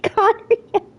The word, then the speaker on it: Khaenri'ah: I have to say, that's one of the only words that I pronounce correctly. I know how to say Khaenri'ah.